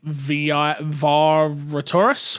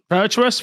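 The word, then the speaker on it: Virtuos: The other rumor out there, I'm going to say the studio name wrong, but is it V Vtorus? Verus Virtuous, thank you.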